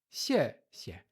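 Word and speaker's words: 谢谢: Lembrando, quarto tom, neutro. Xie, xie.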